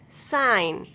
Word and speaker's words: sign: If a word ends in GN, then letter G will be silent. Align, assign, design, sign, design, consign, campaign, ran, foreign.